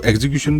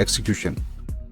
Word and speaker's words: execution: एक्सिक्यूशन, इसको एग्जीक्यूशन भी कहते हैं, लेकिन इसकी प्रॉपर जो सी प्रोनाउंसिएशन है वो है एक्सिक्यूशन।